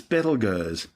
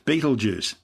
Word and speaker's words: Betelgeuse: clear up the name it's currently referred to by astronomers as petal Gers which has been commonly corrupted to Betelgeuse than say it three times both names are actually tortured mispronunciations of its original Arabic name if tell Yasser meaning